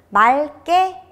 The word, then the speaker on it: 맑게: 그렇지만 리을 기역이 용언의 어간 끝에서는 무엇으로 발음이 된다고 했죠? 네, 리을로 발음이 됩니다. 맑게, 맑고, 맑구나 다 리을 기억임에도 불구하고 리을로 발음이 되는 예외 단어들 잘 기억해 주세요.